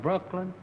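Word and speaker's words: Brookeland: I'm from Brooklyn, Jasper County, Texas. This is Mr. and he is from Texas. The name of the town is Brooklyn, but it's spelled B-R-O-O-K-E-L-A-N-D.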